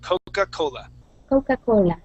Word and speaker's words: Coca-Cola: we say Coca-Cola okay you're saying coca Coca-Cola okay very very uh Spanish wise okay so we want to say coca cocaa so use more of an H Sound cocaa Coca-Cola good coca colola cocacola